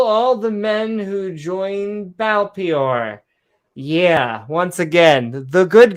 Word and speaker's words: Baal Peor: Baal Peor is how it's said.